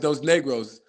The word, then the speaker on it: Dos Negros: it's crazy because and there's nothing wrong with how you say it, but it's definitely pronounced Dos Negros.